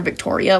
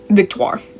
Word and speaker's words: Victoire: when I was reading, I was calling her Victoria, which is definitely not her name, but, like, that's just how I mentally pronounce her name, but Victoire. We'll go with that.